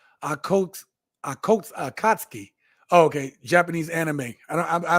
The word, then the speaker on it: Akatsuki: That was an anime TSG pronounced Akatsuki.